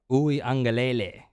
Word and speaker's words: Uiagalelei: Uiagalelei.